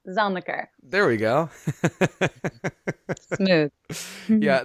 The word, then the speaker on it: Zelniker: Zelniker.